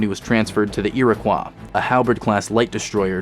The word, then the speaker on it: Iroquois: was transferred to the Iroquois a halberd class light Destroyer to serve as commanding officer yes that is how you say it Iroquois Iroquois and finally the most